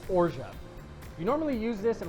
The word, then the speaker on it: orgeat: We're also going to be using what's called ora or some people like to call org but it's actually pronounced ora.